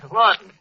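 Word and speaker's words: Laughton: Yeah, Lorton. That's how the English spell. Yeah. You know, like the London Times is pronounced as temp. Yeah. Charles Lorton.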